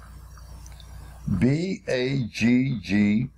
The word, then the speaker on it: bagged: The extra letter G is added to keep the original sound of the word. Without the extra G, it would be B-A-G-E-D, changing the sound from bagged to bagged.